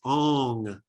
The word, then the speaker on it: Om: an um sound so the way to chant om out loud actually is ong like you're saying song and when you say